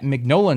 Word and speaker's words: Mignola: And I'm only just now knowing that it's pronounced Mignola.